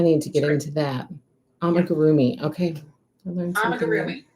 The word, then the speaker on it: amigurumi: Oh, amaguri. Oh, it's amigurumi.